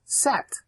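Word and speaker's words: שת: that's what Seth means set see Seth means appointed in English it comes it's pronounced set okay and there are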